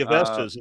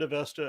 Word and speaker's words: Avesta: Would you accept the Avestas as evidence of Ahura Mazda?